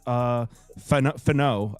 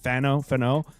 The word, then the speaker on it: Fano: Spencer Fano, I think that's how you say it, Fano.